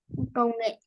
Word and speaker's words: Công nghệ: Ừm, Công nghệ. Konge.